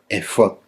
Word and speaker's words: efod: fonética hebrea original, porque así es como se pronuncia, efod.